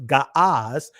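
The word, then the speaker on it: Ge'ez: Century gez which actually the ancient gez is actually pronounced gas had not made use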